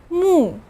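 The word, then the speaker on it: 目: of alternate form of character in a bit mu pronounce with me mu this means i in ancient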